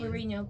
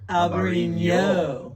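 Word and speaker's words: Albariño: So it's like a you roll the Enye. N. There's an Enye. Oh, so we've been pronouncing it wrong. So it's even more fun to say. Albarino.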